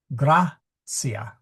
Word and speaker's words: gratia: Okay, now gratia. That is a short I. So we have to go to the to the syllable in front in order to accent it. Gracia.